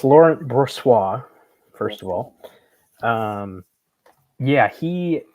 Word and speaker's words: Brossoit: Brossotti, how do you say it, Eric? Is he hurt? How long is he out for? Well, it's Laurent Brossoit, first of all.